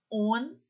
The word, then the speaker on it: un: Olha só como nós pronunciamos un, tá? O som é bem anasalado, un.